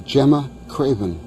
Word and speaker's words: Gemma Craven: down to Cinderella and I I'm having trouble pronouncing her name so why don't you do it correctly her name is Gemma Craven Gemma Craven Gemma Craven is a discovery of